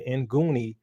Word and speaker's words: Nguni: that they had the goonie we had the nguni tribe of south africa now the end is silent so here we have